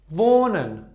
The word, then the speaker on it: wohnen: And the second one is wohnen. Wohnen. Ha is not pronounced. Okay? Because before ha we have o.